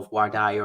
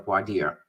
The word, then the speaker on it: voir dire: asks questions during the process that we call voir dire or voir dire, right? Depending on how you want to pronounce it, which is the questioning of prospective jurors, right?